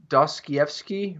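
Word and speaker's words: Dostoevsky: the dream yeah I'm doing I'm on a DOS Kiev ski right now did I say that right yeah it's so many syllables this is Russians yeah I'm reading The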